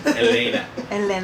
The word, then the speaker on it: Helena: I give her the Spanish pronunciation. Helena.